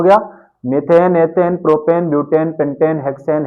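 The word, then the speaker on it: methane: एन नाम हो जाएगा मेथेन एक ही समझना जो मेथेन है हिंदी में मेथेन बोलते हैं और उसको आप प्रोनाउंस कर सकते हैं मीथेन एम ई पी एच ए एन ई मीथेन है ना ऐसे ही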